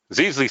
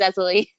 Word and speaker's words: Zezuli: I'm sorry, you've been pronouncing my name wrong. It's Zezuli.